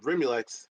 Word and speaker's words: Rimulex: But long story short, Brixajol is how you say it, and then Rimulex, you got that one accurately.